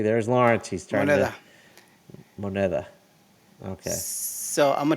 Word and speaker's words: moneda: It's a modida. What's it No, called? modida. Moneda.